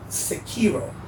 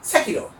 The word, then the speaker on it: Sekiro: Now, if you want to be technically, correct or politically correct, then you would say Sekiro, because that's how it's pronounced in Japanese, or with the Japanese, accent, if you will.